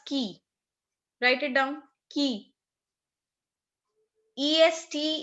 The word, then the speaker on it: qui: QUI is pronounced as key.